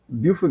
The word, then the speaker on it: Beaufort: So yeah, so yeah, tell me about growing up in Buford, man. How was that? Um, Beaufort got another vibe.